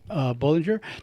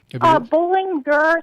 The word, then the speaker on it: Bolinger: is the author, Bolinger. Now, say it correctly, the proper pronunciation. Bolinger, so it's like you're going for a game of bowling, and then there's like a tiger at the end of it.